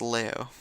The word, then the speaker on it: Laos: H los is h lo is the common English English pronunciation but in it's leo.